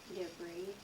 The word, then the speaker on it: debris: Debris. Why is that hot? Because the R-I-S. Right. It doesn't sound like is, does it?